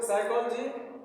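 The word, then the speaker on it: psychology: P silent है देखिए यहां दो वर्ड है सा साइकोलॉजी और निमोनिया दोनों में पी सेट है लिखा जाएगा प से प एस वा सीओ एओ पी एस वा सीओ एओ जीी वा साइकोलॉजी मनोविज्ञान य प का उच्चारण नहीं होगा पी इसमें मुख लेटर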